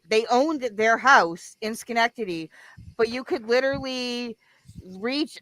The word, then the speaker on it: Schenectady: Schenectady. Did I say it right? Schenectady. Oh, Schenectady, yeah.